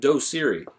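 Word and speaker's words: Doceri: the intro slide is a tool called dosiri and that's spelled d-o-c-e-r-i and what really what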